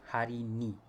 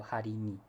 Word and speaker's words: hari ni: Sometimes we shorten it, well, not sometimes, most of the time we shorten it to hari ni. Okay, so the first e in the word ini is gotten rid of.